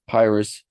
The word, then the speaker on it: Pyrrhus: This is an easy question for those of us that have grown up speaking English, because Pyhrrus rhymes with pyrotechnics.